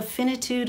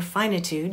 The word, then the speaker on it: finitude: as as profound as the finitude of life or finitude you can pronounce it either way but um but it's